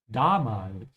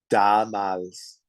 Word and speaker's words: Damals: Yeah, be careful with the pronunciation of the A. The first one should be longer. Damals. Damals.